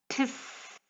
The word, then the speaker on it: Z: The German Z alphabet is pronounced by putting your teeth together, as in this image, and letting out the sounds of the alphabets T and S from your mouth together. Ts.